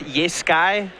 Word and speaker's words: Jeskai: Yeah, Jeskai Charm for the last couple points of damage, and Don't feel bad. They're really hard to say. Just Sky. I'm getting it. I think it's pronounced Yeskai.